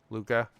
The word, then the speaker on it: Luca: I'm saying it right. Okay. Like the movie Luca.